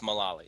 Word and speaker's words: Mullally: I've heard it pronounced both ways, but I go with Mullally, so I'll stick with that.